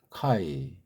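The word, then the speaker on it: καί: 근데 여기 또 이제 카이. 카이는 뭐 동등 아닙니까? 동등면서 둘 사이를 묶으려 하는 이 연결을 강조하는 말이에요. 카이자가. 정확한 발음은 캐라고 그랬죠. 캐. 입을 옆으로 쭉 최대한 벌리면서 내는 소리예요.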